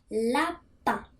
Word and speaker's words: lapin: Como se fala lapin. L-A-P-I-N. Assim que se escreve.